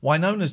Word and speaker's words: Winona: Winona's the correct pronunciation.